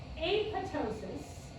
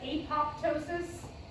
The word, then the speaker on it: apoptosis: some Wendy videos and Wendy very clearly pronounces the second P which I think is really funny but it's not like that's not how Latin works so she says apoptosis which I'm fine if